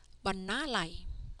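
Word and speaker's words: បណ្ណាល័យ: This word is read banalai.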